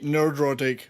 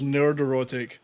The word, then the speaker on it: Nerdrotic: I always say nerdrotic, but everybody else says nerderotic. What is the true pronunciation? Nerdrotic. No E. So I say nerdrotic. neurotic. Yeah. Okay. If you want to say neurotic, so it's nerdrotic. But not nerd-erotic. No.